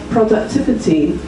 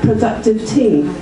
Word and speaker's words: productivity: come back to again productivity mispronounced sounds like productive tea and there are quite